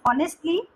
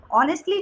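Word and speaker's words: honestly: ऑनेस्टली ऑनेस्टली जो होता है उसमें एच साइलेंट होता है।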